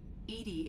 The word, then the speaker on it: EDI: are you named edie edie is the phonetic pronunciation well remind me to